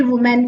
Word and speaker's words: women: वुमेन की। तो वुमेन WOMEN को कैसे प्रोनाउंस करेंगे? वुमेन। और WOMAN को कैसे? वुमन।